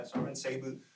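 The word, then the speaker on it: Serban Sarbu: For another thing, I knew that in graduate school, his office mate was a guy named Sarvan Sabu. Is that how you say his name? Yeah, Sarvan Sabu, who had become, for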